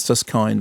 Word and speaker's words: Suskind: I've always thought it was Suskind, but he's been pronounced it very clearly as Suskind, as in kindness, son of award-winning journalist Ron.